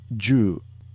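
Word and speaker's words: 柔: Supple or flexible and it's pronounced ju perhaps you've heard of Judo and Jujitsu finally this is the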